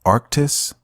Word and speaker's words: Arctis: How do you pronounce this? Okay. Arctis.